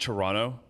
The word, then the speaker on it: Toronto: It's pronounced Toronto. Okay, sure. Either way. Toronto. If there's still room, please sign up. It's like you're sort of almost sneezing.